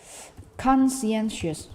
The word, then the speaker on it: conscientious: Jovan seharusnya conscientious.